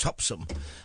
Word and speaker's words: Topsham: there was one in a place called topsham which the locals pronounced topsum and it wasn't at all.